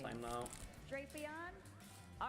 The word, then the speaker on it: Drapion: How do you pronounce this Had them for Pokemon's some name? time now. Drapion.